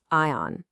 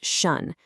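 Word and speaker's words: -tion: Ion. It looks like you should say ion, but you don't. It's pronounced shun, like an action or reaction.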